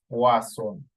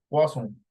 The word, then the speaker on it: Poisson: Acuérdate que los franceses, la OI se pronuncia como UA, entonces Poisson. Poisson.